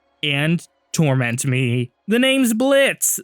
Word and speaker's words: Blitzo: The name's Blitz. The O is silent.